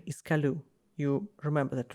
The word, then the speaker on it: Coolus: And the correct pronunciation is kaloo.